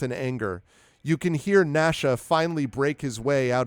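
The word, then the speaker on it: Gnasha: they look quite juicy Nasha choose through and it is spelled exactly like that as in nashing of teeth GN ashaa Nasha chews through all your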